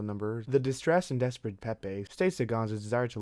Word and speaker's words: Pepe: As Constance pours her aching heart, she mistakenly mispronounced Pepe's name. Pepper. Pepe.